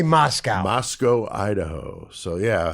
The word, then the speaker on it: Moscow: Moscow is how they pronounce it. I say Moscow.